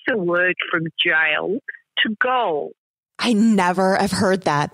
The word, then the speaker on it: Gaol: It's pronounced goal, and it really is the same as jail.